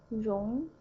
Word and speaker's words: 融: Alright, the last one, 融, okay, second tone, 融, it means melt.